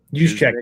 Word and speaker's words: Juszczyk: The answer is probably, I need to add to the next slide just to take, is it Juicenic? Is that how you say his name? Yeah, Juicenic. Juszczyk.